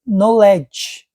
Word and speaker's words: knowledge: e o k de knowledge que no a gente lê ali k LED mas na pronúncia não não se pronuncia o k é conhecimento no LED